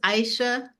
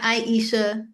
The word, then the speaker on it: Aisha: My name is Aisha. Aisha. Yeah. Not Aisha, 2 syllables.